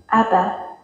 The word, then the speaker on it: Abba: It's thought you'd find it quite interesting, is how Father was actually pronounced in Hebrew. Abba.